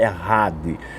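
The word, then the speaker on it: אחד: O CH no hebraico a gente lê um R bem forte, errade.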